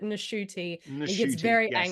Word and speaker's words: Ncuti: he has said that his name is Ncuti Gatwa and that you pronounce it Shooty for many, mm, many years. And then he said apparently at the age of 26, his mother tells him, no, you're supposed to pronounce it Nashuti.